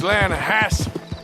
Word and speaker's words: Lanahatchee: You mean the Lanahatchee River? No. The Lanahatchee. It runs right near here. Yeah, but it's pronounced Lanahatchee.